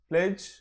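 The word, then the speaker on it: pledge: ప్లెజ్, సో D silent. Rule 2, D is not pronounced in the following common words.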